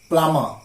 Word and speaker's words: plumber: lame fuck'em nam boom and the thickest one plumber I beat plumber not plumb ball people say